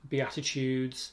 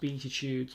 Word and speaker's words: Beatitudes: Just as an aside, Beatitudes from the Bible, that spelling might look as though naturally in English it should be pronounced Beatitudes, but rest assured it is Beatitudes.